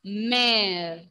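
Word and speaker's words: mère: Mother pronunciation is mare.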